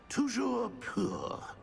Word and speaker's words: Toujours pur: I probably pronounced it wrong, too. Very well. Toujours pure.